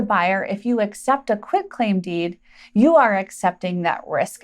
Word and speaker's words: quitclaim deed: We want to make sure we pronounce this quitclaim deed, not quitclaim deed. It's not called a quitclaim deed. That's a huge misnomer in the industry. The correct term is quitclaim deed.